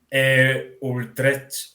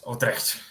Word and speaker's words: Utrecht: Utrecht... ¿Está bien pronunciado?